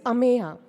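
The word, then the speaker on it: Ameya: so we are focusing we are stretching out Amaya just we say no it's Amaya yeah that's all the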